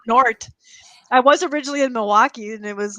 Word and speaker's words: Milwaukee: And the L is silent in Milwaukee, by the way. Milwaukee. It's Milwaukee.